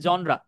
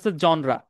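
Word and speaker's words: genre: ভার্টিয়ালি কি করে important জনরা sorry জেনার বল জনরা জন মানে হচ্ছে একটা নির্দিষ্ট সেক্টর বা ধারা অফ মিউজিক নেচার প্লেটা দেখে রাখেন বানানটা দেখে রাখেন নাম হচ্ছে জিন আর কিন্তু উচ্চারণ জনরা nature play role in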